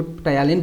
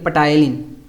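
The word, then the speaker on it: ptyalin: याद करने के लिए भाई मैं इसको टायालिन प्रोनाउंसिएट करता हूँ, ठीक है, पटायलिन।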